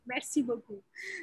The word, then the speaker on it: merci beaucoup: So as we say, merci beaucoup. That's thank you very much. Is that correct? Merci beaucoup.